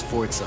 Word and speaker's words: Forza: There's no T in the name. Forza. It's pronounced Forza.